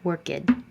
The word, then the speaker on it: worked: Does it sound like T, worked, or a D, worked, or an extra syllable, worked? It's voiceless, so it stays voiceless. Your voice is off, leave it off, worked.